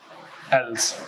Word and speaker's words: else: अच्छा, एक और वर्ड है, एल्स वर्ड सुना होगा, लिखा जाता है ELSE, पर प्रोनाउंसिएशन, उच्चारण में ये अल वर्ड इसमें भी आता है, एल्स।